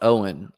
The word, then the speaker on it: Eoin: Pronounced Owen, Irish version of Owen.